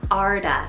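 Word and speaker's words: Ardagh: away i think of ezra but this is arda and it's called a-r-d-a-g-h so it means from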